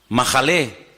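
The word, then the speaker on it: מחלה: ahí, mejilá y majalé, en hebreo se escriben sin vocales. Se escribiría una M, una J y una L, porque no hay vocales en hebreo. Es decir, que la misma palabra se puede leer como mejilá o se puede leer como majalé.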